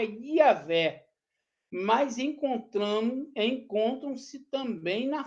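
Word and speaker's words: Yahweh: é maioria dos estudiosos pensa que a pronúncia original do tetragrama bíblico é yaveh com h e o w e entre eles há incerteza sobre a vocalização como i.a.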